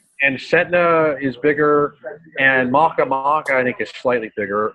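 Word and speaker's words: Makemake: My favorite one is Maka Maka. I like to call it Planet Make Make because it's spelt like Make Make, but it's right. Hawaiian god Maka Maka.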